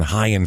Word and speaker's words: Ryan: I'll say, we said, we know it's not Ryan Gracie, but I'm not calling this man Hyan for 3 fucking hours when it's spelled with an R.